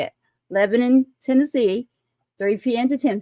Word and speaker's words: Lebanon: in Lebanon I said that'll purpose because that's how you say it leanon Tennessee 300 p.m.